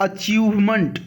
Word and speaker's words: achievement: एक चीज ध्यान दीजिएगा, जिस किसी शब्द के लास्ट में MENT लिखा होता है उसको मेंट नहीं पढ़ते हैं। आई रिपीट, मेंट नहीं पढ़ते हैं, मंट पढ़ते हैं।